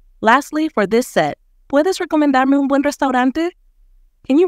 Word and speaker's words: recomendarme: It's recomendarme with an O sound after the rec. Try pronouncing it as recomendarme.